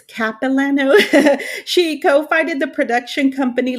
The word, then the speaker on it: Capilano: with a ba in motion picture production from capilano is that how do you say it university yes it okay uh we were like i don't know if it's capilano she co-founded the production company lucha gore productions